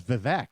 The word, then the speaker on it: Vivek: We've been calling him Vivek because of Jeff. Yeah, Yeah. Jeff Vivek. Jeff Vivek. He told Hannity it was Vivek. Yeah, Yeah. Vivek, yeah. So they were all saying it wrong.